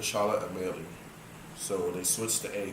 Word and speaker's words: Charlotte Amalie: There's been great debate regarding the correct pronunciation for the name Charlotte Amalie. First, it was called Charlotte Amalia, but after researchers reported a mistake in the history, it was named to Charlotte Amalie.